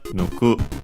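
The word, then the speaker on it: 抜く: Okay, unaccented, nuku.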